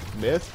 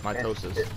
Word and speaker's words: Mitosis: you say your name myth no it's mitosis by the way uh